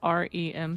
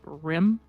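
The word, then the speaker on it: REM: And Phil, it's not RM sleep. It's rim sleep. Rim. Okay. Yes, it's Rim. Rim. You don't spell it out.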